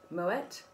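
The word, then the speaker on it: Moët: you could go for moet and there's a bit of a mixture moet bean dutch which is why we pronounce the tea um and then got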